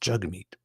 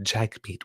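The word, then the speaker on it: Jagmeet: often because I'm reading from notes but it's pronounced jug meat jug meat so but he's like he said like he actually said Jack meat which sounds like a lot like Jack meat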